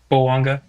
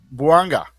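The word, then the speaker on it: Bouanga: Um it they're they're uh what's it at the I can't think of his 99 uh can't pronounce his name. Uh Banga. Banga.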